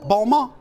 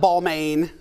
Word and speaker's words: Balmain: balma is the other Bulma is that how you pronounce it yeah it's not Balmain if yeah but yeah